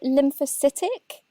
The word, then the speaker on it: lymphocytic: Is it lymphocytic?